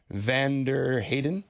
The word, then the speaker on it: Vanderheyden: to say this beforehand Vander Heiden it's quite good yeah it's my international pronunciation I guess yes indeed nice to